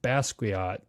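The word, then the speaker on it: Basquiat: He hung out with Basuat.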